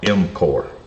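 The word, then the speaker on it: MCOR: That stands for motor controller output regulator, but they most people just call it MC O M Core.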